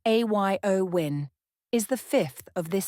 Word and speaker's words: Eowyn: of significant flight disruptions the storm named ioin pronounced a yo win is the fifth of